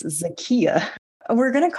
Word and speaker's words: Zakiya: ass of myself the whole time we both pronounced it wrong apparently it's zakiya we're gon to call her Harris the whole